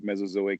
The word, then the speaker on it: Mesozoic: You're actually not the only one having difficulty pronouncing the title. I can do it for you. It's Phanerozoic to Mesozoic, Cenozoic.